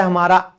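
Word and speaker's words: hymn: भजन इसे हम कहते हैं हिम। एन हमारा साइलेंट है।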